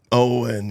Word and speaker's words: Egon: And then I guess that guy Egon, or what is his name? What is his name? Owen. Owen, yeah. It's just spelled like Egon.